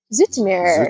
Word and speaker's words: Zoetermeer: today we are in Zoetermeer. Zoetermeer? Zoetermeer. I think she's saying it right and I'm saying it wrong. Because I've always said Zoetermeer, but I think it's Zoetermeer.